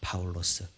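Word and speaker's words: Παῦλος: 성격 하는 것이니까 말입니다 정확하게 해라 발음으로는 바울로 쓰입니다 바울로 스 그래서 그걸 한글로 번역하면서 바울이 된 것이죠 그래서 우리는 말씀을 알아도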